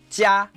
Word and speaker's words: jia: Right, it's similar to ja, jia, ja, jia, ja.